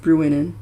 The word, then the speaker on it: Bruinen: 12 days from here to the ford of Bruinen, yeah, I said it right, where the road crosses the Loudwater that runs out of Rivendell.